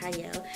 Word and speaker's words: Qiayel: y'all welcome to Prime TV I'm your host cyle it is pronounced or spelled with a cute but it's pronounced cyle and today I have a wonderful guest with